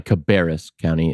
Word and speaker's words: Cabarrus: And I'm, as if that's not enough, on top of all that, in your county, Cabarrus County is how it's pronounced.